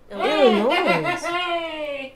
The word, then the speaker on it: Illinois: Illinois. Wow. Does Illinois have an, I know it has an S. Do you pronounce the S or is it silent? I think it's Illinois.